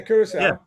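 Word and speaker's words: Curaçao: Is it Curacao? How do you pronounce it? Curacao, yeah, Curacao.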